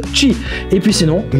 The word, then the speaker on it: Qi: par induction, le rechargement qui s'écrit QI et qui se prononce Qi.